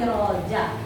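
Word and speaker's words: رجاء: Itu dibacanya bukan raja ya, tapi roja.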